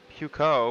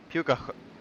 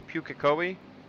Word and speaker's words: Pukekohe: Zealand doubleheader at Puco, which I'm still pronouncing that very incorrectly. I have to look it up again. I gotta remember to look it up again. I think it's Pukoki. Or no, wait. Pukekohe? Pukekohe. I think it's Pukekohe. I think that's how they say it.